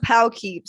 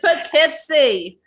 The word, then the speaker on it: Poughkeepsie: no we call it this is like poughkeepsie and pow keeps seeing it we have a pout we it's poughkeepsie yeah my last name